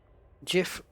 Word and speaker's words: GIF: It's GIF with a G, but it's pronounced J. It's G in George as opposed to G in golf.